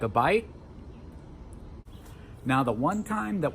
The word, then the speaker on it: bi: So if you see BI in English and it means two, or it means life, like in biology, say bi, don't say B.